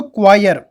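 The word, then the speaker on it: choir: ये इसका जो प्रोनाउंसिएशन है वो थोड़ा डिफरेंट है, तो इसको क्वायर बोला जाता है।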